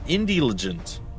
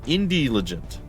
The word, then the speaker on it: Indielligent: trying to explode so it is IND legent Indie intelligent without the int so IND legent like I said it's